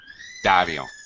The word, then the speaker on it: Dario: Dario. Dario. Mm, Dario. Dario. In the Dario. first part, the accent. Excellent. Stress on the first part.